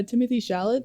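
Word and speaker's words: Timothée Chalamet: Timothy Chalamet, I believe is how you say his name, and Winona Ryder.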